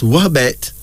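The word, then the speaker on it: Wubet: is a woman it's pronounced as wabet but it is spelled w-u-b-e-t but it's pronounced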